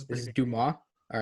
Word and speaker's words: Dumas: So Jason Dumas, who's like the Sixers beat reporter, I believe it's pronounced Dumas. Yes, this is is pretty good. Dumas.